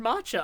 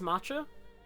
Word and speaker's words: matcha: didn't know the word Macha I don't know I've never heard it used did I did I say it right it's matcha tell you bluntly we